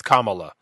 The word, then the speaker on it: Kamala: That's actually how you pronounce it. It's Kamala Harris.